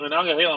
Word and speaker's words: Monongahela: So you know what, Mahana, what is it, Mahana Gahala? How do you say it, Mahana Gahala? Monongahela Mike.